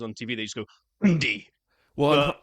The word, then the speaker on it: Hyundai: but I would say Hundai, but you say h, especially when you hear on some of the commercials on TV, they just go Hundi. Well, Hyundai, they actually say rhymes with Sunday.